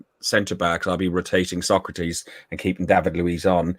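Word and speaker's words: Sokratis: I said with the right pronunciation at the beginning when he first signed him, I got ripped apart for saying it with a Greek inflection because I tried to say it properly. It's Socrates.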